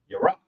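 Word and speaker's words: ירך: is the leg and the leg is pronounced as your rock the Y and you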